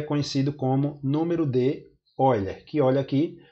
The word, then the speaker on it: Euler: é chamado o número número de euler é e eu lá em português mas na verdade se pronuncia olha em homenagem a leonardo